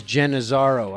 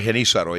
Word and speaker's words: Genízaro: I was always reading it as Genizaro. I'm saying it wrong. Well, Genízaro, yeah.